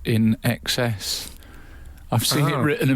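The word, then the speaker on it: INXS: idiotic Eureka moment who knew in EXs is pronounced in EXs I've seen it written a million times and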